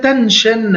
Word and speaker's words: tension: For example, we have today the word tension, S-I-O-N, we pronounce it chin, or we have invasion, S-I-O-N, we pronounce it jin, both of them.